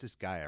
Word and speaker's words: Disgaea: It is pronounced Disgaea, right?